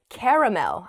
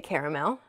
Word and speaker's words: caramel: okay the next oh the next word is caramel i say i think i say caramel oh this is making me doubt myself there's